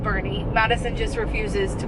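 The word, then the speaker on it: Boerne: little day in born it's also not called born if anybody lives in texas uh it's called bernie madison just refuses to call it that she's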